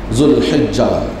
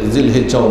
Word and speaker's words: যুলহিজ্জা: সম্মানিত ভাইয়েরা, আলহামদুলিল্লাহ, যুলহিজ্জা জিলহজ মাস, আমরা আমাদের সাধারণত বলতে আমরা জিলহজেই বেশি বলে থাকি, কিন্তু আরবি মাস সঠিক উচ্চারণ যুলহিজ্জা। ব্যবহার হিসেবে এটাকে জিলহিজ্জাও বলা হয়।